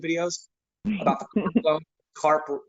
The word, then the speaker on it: CARP: CARP rhymes with HARP, in the CARES Act refinance program.